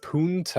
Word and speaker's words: Punta Gorda: Punna. Gorda. Locals say punna. Do they? Yep. All the locals call it punna. The only I've noticed people saying punta. Punta is It's not either right, is it?